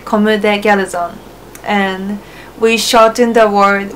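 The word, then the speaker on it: Comme des Garçons: Comme Des Garcons.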